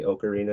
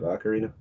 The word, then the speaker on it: ocarina: Maybe the closest thing is certain people say ocarina instead of ocarina because you don't say octopus, you say octopus.